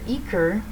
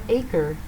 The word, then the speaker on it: Eaker: On Twitter, people's names are pronounced not how I thought, because Kara Eaker is Kara Aker, and I kept hearing the announcer say Kayla DiCello.